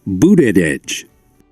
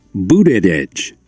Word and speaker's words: Buttigieg: And here on Pronounce That VOA News, if I'm not sure how to pronounce his name correctly, I can actually go here and they will tell me. Pete Buttigieg. Pete Buttigieg.